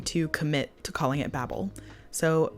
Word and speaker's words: Babel: And I felt like that only made sense as a joke if it was pronounced Babel.